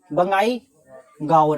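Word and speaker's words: Bongaigaon: Okay, बंगाई गाओन, ऐसे इसका pronunciation होगा, बंगाई गाओन।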